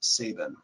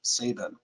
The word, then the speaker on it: Sabine: ago and I asked he knew Paul Saban and I asked him how did Paul pronounce his own last name and he said it was Saban and that actually makes sense because the unit of sound absorption they chunk they cut the E off of it and I think that was to force the correct pronunciation of Saban so so that's how